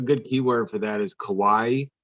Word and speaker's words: kawaii: keyword for that is kawaii it's k-a-w-a-i-i it's kind of spelled like hawaii and it that means cute